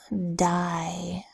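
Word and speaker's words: dye: make the word look bigger ax next word die as in I'm going to die my coat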